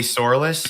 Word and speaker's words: Sourlis: Joey Sourlis? Yes, that's how you pronounce my I name.